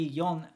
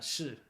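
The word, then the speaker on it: 四: It can be yon or shi.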